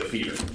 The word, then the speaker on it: Lefevre: I don't want to mispronounce your name. Yes, sir. Lefevre.